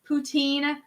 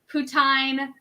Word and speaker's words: poutine: you guys pronounce as poutine putin putin that's the way they tell me to pronounce it in french canadian culture it is pronounced i